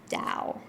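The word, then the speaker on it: Tao: So that's spelled T AO, pronounced Dao.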